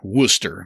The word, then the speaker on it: Worcester: Worcester, Massachusetts.